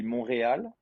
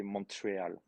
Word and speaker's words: Montreal: not good i mean in french it will be monreal but in english we all say montreal all right and this